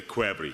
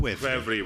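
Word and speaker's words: ქვევრი: vessel so we can get an authentic Georgian pronunciation? The clay vessel in Georgian is the kvevri, so we call it kvevri wines.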